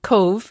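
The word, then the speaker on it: Cobh: And Cove is spelt C-O-B-H, is that right?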